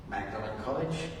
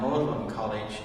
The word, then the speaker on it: Magdalene: one at at Cambridge Magdalene College sorry Oxford and and mlin college at Cambridge both different ways of pronouncing her name the Magdalene so right